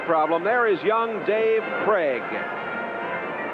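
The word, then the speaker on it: Krieg: There is young Dave Craig. K R I E G, but pronounced Craig.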